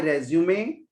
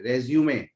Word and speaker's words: resume: रेज्यूमे भी कहते हैं, रेज्यूमे ऐसे उसको लिखते हैं RESUME, बट इट इज प्रोनाउंसिएटेड एज रेज्यूमे। ठीक है, रिज्यूम कई लोग बोलते हैं, but this is quite wrong, so you should speak रेज्यूमे।